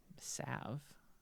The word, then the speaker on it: salve: Well, not glue, but like a a salve. Yeah. Sav. The L is not pronounced.